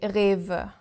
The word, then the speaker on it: Rewe: And German way to speak it is exactly Rewe. So all the rules apply. The R at the beginning is our guttural R, and then the W pronounced like a V.